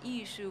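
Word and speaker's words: 艺术: French um and then issue is actually the Chinese pronunciation for art and in German speaking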